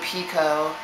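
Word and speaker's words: Picoult: pul and said um it's actually Jodie Pico and I hate that everyone pronounces it Pou but uh sorry I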